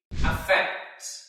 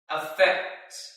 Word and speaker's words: affect: means to impact or to change it is pronounced as a fact you can repeat after me affect affect affects for example number one the lockdown has